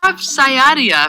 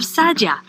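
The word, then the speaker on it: Saadia: Rav Sayadia, for example, it's pronounced Rav Sadia, got it, thanks, published a chapter called How a Person Ought to Behave in the World.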